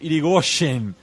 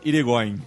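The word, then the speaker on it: Yrigoyen: atrás era deposto Hipólito iren da presidência da Argentina tá Agora pronuncia em português por favor Hipólito irigoin é tá sobrenome Basco é o o irig ele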